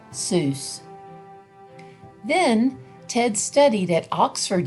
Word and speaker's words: Seuss: dr seuss fun fact soos is supposed to rhyme with voice not goose the doctor never minded